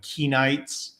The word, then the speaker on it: Kenite: So Cain is a stand-in for a group called the Kenites, probably pronounced Kenite in the original. We don't know with the vowels on that one. Yeah, something like that.